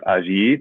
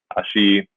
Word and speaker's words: allí: So naturally, the next step is ahí or allí, depending on if you pronounce the double L as kind of the ya sound or the sh sound, which you might do in Argentina, for example.